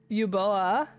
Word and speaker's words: Uboa: and oh uboa Ooa it's spelled u b o a yuboa it is spelled very funk in here cuz it's Japanese it's not English so my Clos captions